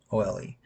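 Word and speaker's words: Ole: a specific one called Old Nassau. as in O L E. Kind of like uh if you know the college miss, they spell it O L E. Not old.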